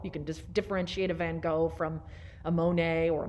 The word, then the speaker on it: van Gogh: vincent van gogh painting or van gogh that's actually the correct pronunciation but i won't say